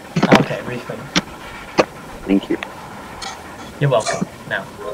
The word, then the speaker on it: Reepham: It's not Reepham, because because we're Norfolk, you pronounce the P as an F, so it's Reepham. Okay, Reepham.